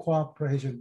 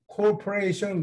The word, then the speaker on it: cooperation: 이건 발음을 주의하셔야 돼요. 이게 요즘 스펠링에는 이 하이픈이 붙질 않아요. 그래서 사람들이 corporation 그러면 발음이 무슨 소리인지 모르죠. 회사라는 뜻으로 corporation이라고 읽으면 안 되고 이거는 cooperation이에요. 공동으로 작전한다.